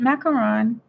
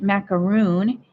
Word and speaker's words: macaron: so again light mint macaron and it's so funny because a lot of people say mint macaroon and that is not the proper pronunciation now don't forget this